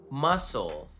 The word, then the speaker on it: muscle: We don't need that C there at all. Muscle. They could have added a second S or something. Muscle would be the same, but no.